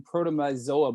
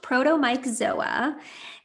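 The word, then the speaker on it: Protomyxzoa: word but we've not heard about the co-infection protom myoa before which I'm not pronouncing correctly can you tell us more about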